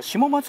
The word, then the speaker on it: 下松: 選手でしたえ下松高校と読むでしょうか下松高校と読ませていただきますえ 1 回戦